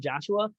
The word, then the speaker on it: Jashuha: It is spelled goofy. So it's Jashuha. That's my first name, Joshua.